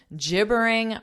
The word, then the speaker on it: gibbering: leave most of us gibbering wrecks you've probably never seen gibbering wreck before I'm assuming so notice the pronunciation J it's a j sound gibbering gibbering when you